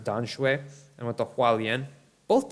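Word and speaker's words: Tamsui: One to Tom Sui, as it's called. In Chinese, they pronounce it Dan Shui.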